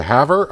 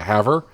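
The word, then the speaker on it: Havre: there's one going to have her i think someone said i pronounced i should be pronouncing that haver uh but i want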